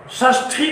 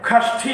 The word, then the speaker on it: षष्ठी: और तत्पुरुष समास में भी षष्ठी तत्पुरुष समास। ध्यान रखिए, षष्ठी का उच्चारण हम लोग इसी प्रकार किया करते हैं। कुछ लोग इसको खष्ठी भी कहते हैं, लेकिन पाणिनीय व्याकरण